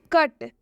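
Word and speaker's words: cut: example देखते हैं हम कट कट में भी आप देख सकते हैं सी जो है वो एक कॉन्सोनेंट है और टी जो है वो एक कॉन्सोनेंट है और जब भी किसी दो कॉन्सोनेंट के बीच यू आता है तो रूल के हिसाब से उस यू का उच्चारण अ हो जाता है यहां पर आधा क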